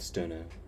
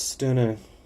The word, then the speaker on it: Stirner: California September 8th 1962 I will pronounce stoner as stoner instead of the correct German much sooner the rest of